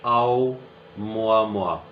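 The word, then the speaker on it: ʻOumuamua: जी इट इज आओ मोआ मुआ ये इसकी प्रोनाउंसिएशन है।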